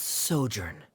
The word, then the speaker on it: sojourn: everything clear no directors osimos how do you pronounce this word let me see Ah that's sojourn it means to stay for a while this